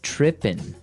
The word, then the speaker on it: tripping: that this girl started tripping. Tripping. Tripping. So to trip, right? As you notice, it's tripping. It doesn't have the G at the end, which isn't really grammatically